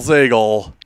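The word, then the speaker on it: Zagel: Kittle, Hattori, Fish, and Ellie rhymes with bagel, Zagle with 43.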